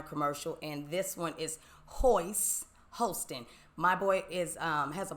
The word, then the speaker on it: Hoist: Hoist, it is Hoist. But I said it rhymes with moist.